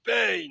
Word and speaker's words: Pain: Ça se prononce Pain.